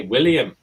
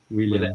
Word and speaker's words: William: Also, you say for William, you say William. William. Yes. At the end, we have it with an N. Yes. Some names are even spelled with an N at the end. William, not M.